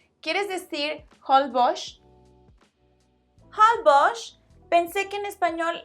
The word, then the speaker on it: Holbox: Pues sí, tienes razón, pero Holbox es un nombre maya, no español.